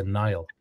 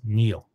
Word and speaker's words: Niall: just to be clear Irish pronunciation is very regular and it is Neil uh that also happens